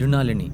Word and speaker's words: Mrinalini: That Minalini.. Amma, her name is Mrinalini I couldn't pronounce her name Didn't your friends call you?